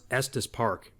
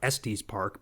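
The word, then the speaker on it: Estes Park: that's pretty cool because it actually knew how to pronounce EST Park you know I even hear people in real life typically who are from out of town they call it es Park but the AI actually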